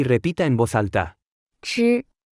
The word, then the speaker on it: 吃: 吃、吃、吃、吃、吃、吃、吃。 Se pronuncia con el primer tono.